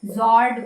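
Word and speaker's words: fjord: जॉर्ड cost line कहते हैं। एफसाइलेंट है।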